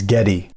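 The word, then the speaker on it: Getae: to the dacian and getai or another pronunciation is getty and I think there are other pronunciations of that name also peoples he wasn't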